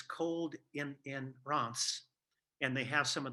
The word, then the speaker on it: Reims: an arrow to a town spelled R-E-I-M-S, and that's actually pronounced Reims in French.